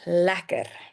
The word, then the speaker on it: lekker: Or you can say lekker dag, meaning have a good day. Lekker dag. But, very important, Afrikaans speakers, they like to not pronounce the R in the word lekker.